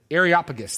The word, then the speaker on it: Areopagus: it um arus arop areopagus there we go I knew there's an extra syllable that I was missing areopagus Jake sorry my